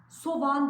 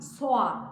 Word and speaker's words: soğan: ne doğru da bazen Farkına bile varmadan yanlış telaffuz edebiliyoruz Çünkü bu kelimeleri hazırız ilk aklıma gelenler de hemen başlamak istiyorum soğan soğan değil soğan o yumuşak geri yazabiliyorsunuz Seo ğ anne şekilde